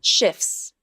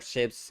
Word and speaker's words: shifts: Did you hear a T sound? No. Shifts. Shifts. Shifts. Nope. There is no T sound in the word shifts.